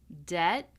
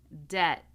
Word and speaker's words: debt: So we do not pronounce the B in any of these words. We have climb, numb, womb, comb, lamb, debt, doubt, subtle. again. Climb, numb, womb, comb, lamb, debt, doubt, subtle.